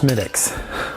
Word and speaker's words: Smithwick's: I know it says Smithwick's, but it's pronounced Schmidt's.